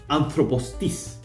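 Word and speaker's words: ἄνθρωπός τις: will have, for instance, anthropos tis. And here anthropos has two acute accents, but notice that there's a syllable in between. So there's no conflict with having two acute accents within a word as long as those two accents do not come in consecutive syllables.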